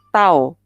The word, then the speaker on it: tau: kata lainnya adalah torsi kalau disimbolkan itu bacanya adalah tahu Maret kemarin yang khas